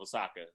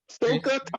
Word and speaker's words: Ahsoka: Ahsoka Tano? Ahsoka? Yeah. Oh, you got name wrong? You keep saying Osaka. I refuse to stand by and watch you butcher her name.